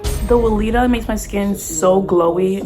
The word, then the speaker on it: Weleda: which I do before my makeup, I use Weleda, I think it's pronounced, the Skin Food Original Ultra Rich Cream.